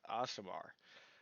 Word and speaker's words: Aasimar: do you pronounce it uh awesomer okay sounds good awesomer elongation of the a it's asmr got it